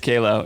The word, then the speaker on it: Qalo: Is it Kalo? It is Kalo, yeah.